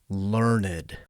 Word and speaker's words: learned: Even worse, the man insisted that everyone pronounce his title learned, even though it was spelled learned, as if the extra syllable made him that much more important.